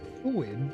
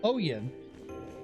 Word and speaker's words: Oyen: Town of Victoria, called Uwin, pronounced Oyen. Oh, it's Oyen, is hitting 48 Celsius.